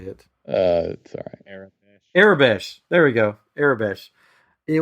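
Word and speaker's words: Aurebesh: ar I can't say it uh sorry Arab arabes there we go arabes it was in arabes and it's spelled out when he translated because they have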